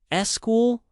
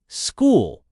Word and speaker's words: school: Portuguese loves adding an extra e before words eschool. SB in English we don't need the e just say school special speak and the